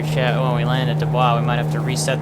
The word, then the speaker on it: Du Bois: Is it Du Bois or Du Bois?